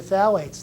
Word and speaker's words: phthalates: um their baby bottles yep so it is pronounced as your phthalates that's but those are and the and the